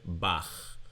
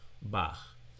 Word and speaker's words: Bach: It is chet with some chutzpah like in the German composer Bach. Bach. So, we have the ch sound here.